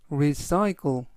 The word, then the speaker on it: recycle: par first 우선 그녀에게 용서를 구해라는 뜻이 되겠습니다 recycle recycle recycle이라고 발음하시면 되겠고요 이때 강세는 알파벳의 강세가 있어서 recycle이라고